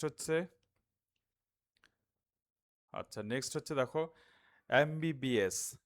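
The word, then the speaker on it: MBBS: আচ্ছা নেক্সট হচ্ছে দেখো এমবিবিএস আমরা একটু আগে দেখেছি যে এমটা উচ্চারিত হওয়া হওয়ার ক্ষেত্রে প্রথমে কি আছে? ভয়েল সাউন্ড আছে। ফলে এখানে এন হবে। যদিও এম হচ্ছে কনসোনেন্ট কিন্তু এন হবে।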